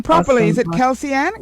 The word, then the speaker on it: Kelse-ann: hope i'm pronouncing your name properly is it kelseann kelseann yes you did pronunciation all right yes and watson yeah kelsey